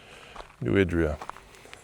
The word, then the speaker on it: New Idria: I think this whole video I've been saying New Idria. She pronounced it New Idria.